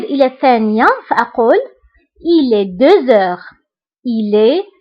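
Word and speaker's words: deux heures: فبالنسبة هنا أيضا غتلاحظوا أنني قلت 2 heures هنا نطقت لا لتر زد مع أنها ما كايناش. pourquoi؟ باسكو عندي اش، باسكو عندي لا لتر اكس كتبعها اش، دونك كندير لا ليزون وكنقرا 2 heures.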